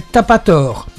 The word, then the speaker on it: Tapator: Vous avez une page qui s'appelle Tapator. T'as pas tort, ça s'écrit comme vous l'entendez, c'est pas plus compliqué.